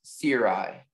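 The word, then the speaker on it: cirri: The word's only pronunciation is Siri.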